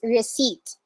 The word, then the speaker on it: receipt: receipt not receipt okay the p is not pronounced in this word it's receipt and then coupon was